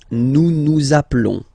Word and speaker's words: nous appelons: Nous appelons. Nous appelons. Okay, final s doesn't exist.